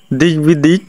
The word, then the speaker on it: দিগ্বিদিক: 5 number, দেখো সন্ধির ফলে ক যদি গ হয়ে যায় তার সঙ্গে বফলা হলে বফলার উচ্চারণ হয়, যেমন দিগ্বিদিক, তারপরে দিক বিজয় ইত্যাদি।